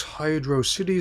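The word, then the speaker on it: Hydrocity: Stage Zone two is hydro City Zone I've heard it pronounced as both two words and as one that rhymes with atrocity I tend to go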